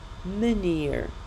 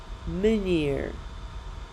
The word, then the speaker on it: meneer: Итак, слово «способ» произносится как «manier», «manier», а «господин» как «meneer», «meneer», «manier», «meneer».